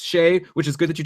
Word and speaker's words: Skjei: Shea, Skjei, who you said his name is pronounced Shea, which is good that you told me that, or else I would have said Skj.